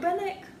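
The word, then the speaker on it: Rubinek: Rubinick? Rubinick.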